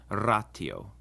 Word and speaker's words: ratio: The T also always sounds like our basic T sound like in time, and never like a sh or a ch, as sometimes happens in English with ratio.